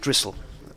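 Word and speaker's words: Drissell: She says, "Drric is pronounced Dristle. I've never heard him called Dristle." So, I'll continue to call him Drizzle.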